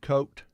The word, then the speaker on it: Kote: correct pronunciation on the, is it Diamond Coat? Okay. Diamond Coat Sure. siding? I think you're right, yeah. Just Kote, but I believe it's coat. I believe you're right. Expert finish and diamond coat siding.